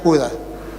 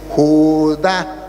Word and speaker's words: Judá: Y él leía Judas. Al final Judas será salvo. Le dije, "No, hermano, aquí dice Judá tiene acento en la ignorancia, es atrevida y lo lleva a decir cosas que no son."